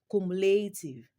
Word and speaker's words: cumulative: In the word cumulative, the third syllable is stressed.